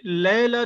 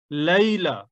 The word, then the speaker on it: ليلة: لیلا، 40 لیلتن، یہ لیلا نہیں ہے، لیلا۔ جیسے یوم نہیں تھا یوم، اسی طرح لیلا نہیں ہے لیلا۔ عربی زبان میں کا تلفظ صحیح ہے لیلا۔ دوسری بات یہاں دیکھنے